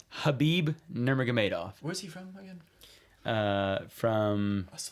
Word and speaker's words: Khabib: while to learn but it's Habib is not khabib to all you people out there it's Habib Nomura Madoff was he